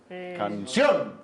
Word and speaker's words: canción: pues eso está bien las agudas tienen el acento en la última sílaba por ejemplo canción canción y ahora no vayan